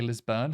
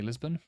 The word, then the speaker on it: Lisburn: um Belfast and Lisbon some people say lisburn some say Lisbon I'm going to say Lisbon we have counted down